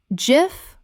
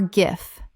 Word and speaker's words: GIF: cache cache Word 78 GIF Common mispronunciation JIF Correct pronunciation JIF or GIF This is one of the great pronunciation debates in the internet age. Both are accepted, but JIF is the creator's preferred version.